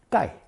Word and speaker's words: 盖: Pronounced fourth tone 盖.